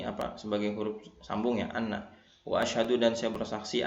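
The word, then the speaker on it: أَنَّ: Seharusnya dibaca wa asyhadu anna, ya ini pendek, wa asyhadu anna muhammadar rasulullah, tapi dia membacanya wa asyhadu anna muhammadar rasulullah ya, atau wa asyhadu anna muhammadur rasulullah, baca seperti itu. Maka ini merubah makna. Kalau anna ya, anna pendek nggak ada alifnya, berarti maknanya adalah ini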